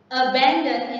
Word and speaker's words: abandon: Abandon is a verb. It means từ bỏ, bỏ rơi. And the stress is on the second one.